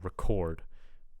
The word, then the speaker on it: record: So conduct or record or address. I will address the nation. But when it's a noun, the stress will be on the first syllable. So conduct, record, and address.